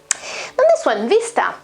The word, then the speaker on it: vista: than the italian one vista vista vista is the italian pronunciation of course vista is quite similar just the final a is a bit different but it's not that different and the meaning is